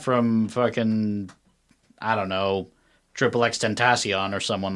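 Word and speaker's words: XXXTentacion: I think Heather pronounced it. I'm assuming she has the correct pronunciation. Triple X Tentacion. Okay, yeah, Triple X Tentacion.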